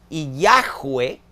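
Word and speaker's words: Yahweh: Yahwee, como se pronuncian esas cuatro letras en hebreo, también es una forma del verbo ser. Yo soy está en presente del indicativo en primera persona. Yo soy Yahweeh está en participo, que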